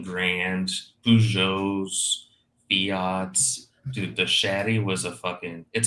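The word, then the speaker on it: Chery: the Brazilian one is a shaty spelled like Cherry with one R um it's a it's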